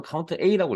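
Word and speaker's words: COUNTA: 저는 카운트라고 읽는 분도 있고요. 저는 카운트 A라고 읽겠습니다.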